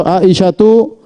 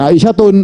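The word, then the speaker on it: عائشة: Ya, perhatikan contoh Aisyatu, ja'at Aisyatu. Bukan Aisyatun, Aisyatun keliru.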